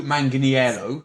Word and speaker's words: Manganiello: and Joe mang still didn't know how to pronounce his name Joe Manganiello mangani yellow before have we not with his